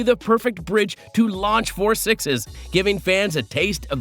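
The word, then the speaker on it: Four Sixes: We must clarify the correct pronunciation, which remains 4 Sixes instead of 6666 or 6666.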